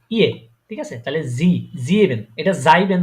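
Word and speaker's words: sieben: তারপরে এস, এস, এসটা আমি বলেছিলাম অনেকটা জ এর মতো উচ্চারণ হয়। ঠিক আছে, ঠিক আছে, তাহলে এটা কি হবে? এটা হবে কি? জিবেন।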